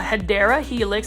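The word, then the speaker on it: Hedera helix: guys it's our favorite it's our hedra helix or what you would call a hadera helix that's the correct way to pronounce it this is in English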